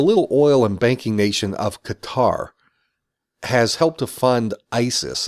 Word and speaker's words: Qatar: for how I'm pronouncing Qatar I know it's pronounced with a glottal stop Qatar but I'm not going